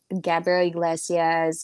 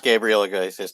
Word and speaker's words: Gabriel Iglesias: eddie murphy um i gabriel iglesias i'm sorry i i love the hispanic comedians um my wife loves gabriela gracias too and i said it wrong so but that's how i say it well it was interesting